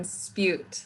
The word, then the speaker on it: Spjut: care bear uh-huh and then spute like cute oh spute yes kirsty